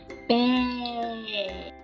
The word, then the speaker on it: pé: então nós podemos escrever a palavra pé. O som da letra E fica mais aberto, fica é, com um acento ortográfico, ok?